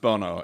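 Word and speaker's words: Bounou: the podcast you know his last name is bennu and yeah it tends to be pronounced Bono in Spain certainly which is why which is where it comes from so you get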